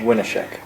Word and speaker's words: Winneshiek: just to be correct how do you say it again winik theater winik right did I say it right yeah awesome what are